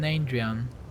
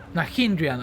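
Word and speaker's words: Nahyndrian: Why do you keep calling them Nandrian? Nahindrian. Oh, I learned how to pronounce it, didn't I?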